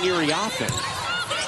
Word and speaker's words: Iriafen: why aren't they saying Iriafen? Kiki and USC have let it be known that really all these years it should have been pronounced with the emphasis on the fen rather than the off.